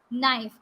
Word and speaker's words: knife: a pizza then comes knife the word starts with k but actually our k is silent here it is not a knife it is knife you have to remember